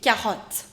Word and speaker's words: carottes: The only difference is that in French you do not pronounce the last consonant, so you will not pronounce it as carottes. Okay. It has to be carotte. Carotte.